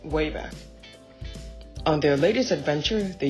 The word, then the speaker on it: WABAC: Peabody created a time-traveling machine called the WABAC, pronounced WABAC.